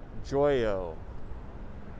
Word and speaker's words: Joyo: today though and also i was saying his name wrong it is oscar joyo oscar joyo he's such a good